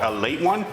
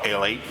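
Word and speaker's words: Ale-8-One: I didn't know It's actually technically called A Late One, but the way it's spelled people call it A Late because of how they spell it.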